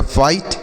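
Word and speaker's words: fight: चीज समझे रहेंगे तो आई जीएच को क्या पढ़ेंगे केवल आई पढ़ेंगे यहां पर जी का उच्चारण नहीं जी एच का उच्चारण नहीं करते हैं एफ आई जी एसटी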